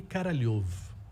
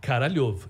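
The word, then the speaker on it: Королёв: que se chamava Sergei Karalyov. Claro que eu não podia falar Karalyov. Em russo se escreve K-O-R-O-L-E-V. Mas em russo, o som A letra O, quando ela não é tônica, ela vira A.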